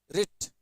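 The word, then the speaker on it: writ: एक जैसे वर्ड है मतलब उच्चारण में राइट राइट राइट राइट रिट इसको क्या पढ़ते हैं रिट पढ़ते हैं और इसको पढ़ते हैं राइट लिखना और यह रिट अदालत का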